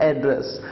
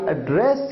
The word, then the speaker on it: address: लेकिन एक वर्ड है एड्रेस, ADDRESS। जब आप इसे एज ए नाउन यूज करते हैं, आप कहते हैं व्हाट इज योर एड्रेस, तो यहां पर आप प्रोनाउंस करते हैं एड्रेस। लेकिन जब आप इसे एक क्रिया की तरह यूज करते हैं, तो आप कहते हैं आई एड्रेस यू।